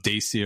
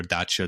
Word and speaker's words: Dacia: So the province of Dacia or Dacia, depending on your pronunciation, was conquered by the Emperor Trajan in the year 101.